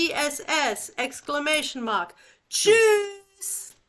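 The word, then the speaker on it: Tschüss: shoes.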